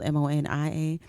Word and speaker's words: Monia: It gets tricky because it's spelled Monia, but it's Monia.